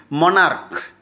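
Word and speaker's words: monarch: মনার্ক। সিচর উচ্চারণ ক এর মত।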